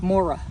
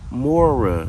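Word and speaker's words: Moira: And how do you pronounce her name? Mora. Mora.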